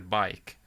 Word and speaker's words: BAJK: I actually asked the person when I live streamed. It's actually bike. So Bike. for some reason, it's Great. kind of like the Swedish way of Shout out to our top That's viewer, cool.